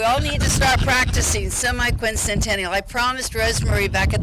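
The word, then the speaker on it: semiquincentennial: pretty easy to too e very easy to pronounce but it's really the semi Quin Centennial yes so that's hard to but we all need to start practicing semi Quin Centennial I promised Rosemary back at the office that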